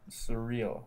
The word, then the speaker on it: Suriel: See if we can pronounce it right. Surreal. Surreal, yeah. So that is a surreal name.